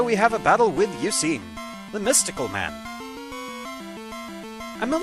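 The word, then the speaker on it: Eusine: got called Eugene so I just pronounce it as Eugene with an S instead of a g basically which thinking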